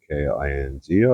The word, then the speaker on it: caulking: Do the chalking. It sounds like chalking, but chalking is spelt with without the C. Caulking.